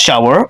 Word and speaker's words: SHWR: It's now been silenced as SHWR but still pronounced Shower with the song Contact.